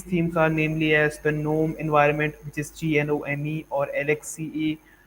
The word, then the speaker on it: GNOME: So that's why we have Genome, which is actually it's pronounced as GNOME, and its spelling is Genome.